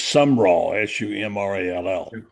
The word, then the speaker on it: Sumrall: syllables. It's Sumrall, Sumrall.